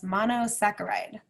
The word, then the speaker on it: monosaccharide: sacchariah means sugar and in science we don't say the CH sound for some reason in any of our words we say it like a k so that's monosaccharide and examples of single